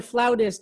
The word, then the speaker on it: flautist: For those who don't know, Simon is a flutist or flautist. I'm not sure what the correct pronunciation is of this. Well, we're in the United States, so it's flutist. If you're in Italy, really? Flautist.